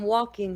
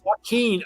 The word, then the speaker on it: Joaquin: Or everybody's just gonna think his name is Walking. Hey, I'm walking here. Walking? No, Joaquin.